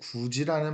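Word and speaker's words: 굳이: 대표적으로 이제 구지라는 발음이 있습니다. 구지, 구개음한데 발음하면 구지 돼요.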